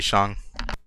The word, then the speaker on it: Shang: was staying around though no yeah it's actually sean uh what else all right